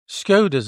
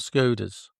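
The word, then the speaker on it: Škoda: Skodas is called Skodas. So No, they're not. They're called So why? Skoda.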